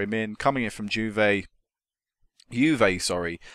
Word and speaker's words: Juve: Coming in from Juve, sorry, no J pronounce it's Y.